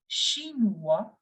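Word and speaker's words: chinois: sound of sure similarly whenever you see o i you have to make the sound of va so you will pronounce it as shinuwa foreign one more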